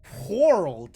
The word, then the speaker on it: whorled: Oh my god, you pronounce the H. I hate it. Whorled passage, if you must.